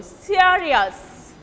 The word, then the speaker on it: serious: It actually will take stress on the first syllable, serious.